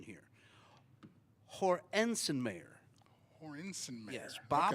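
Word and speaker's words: Hoernschemeyer: and I'm going to and I got the pronunciation here Hensen Mayer hor insen mayor yes Bob Hornen may I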